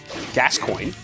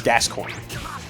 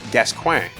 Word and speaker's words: Gascoigne: And in English, you pronounce it Gascoigne. And later on in the game, they actually say the words, right? Yeah. So like there's no ambiguousness to it. It's Gascoigne.